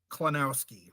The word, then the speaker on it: Klonowski: yes that's the way to go um Scott pronounce your last name so I don't mess it up kenowski kenowski that's what I thought all right yeah